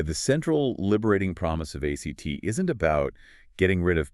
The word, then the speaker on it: ACT: We are diving deep into acceptance and commitment therapy, or ACT, and yes, pronounced just like the word ACT.